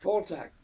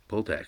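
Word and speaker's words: Poltack: How do you pronounce his last name? Poltak? Poltak. P-O-L-T-A-C-K. Poltak, right, of Merrimack.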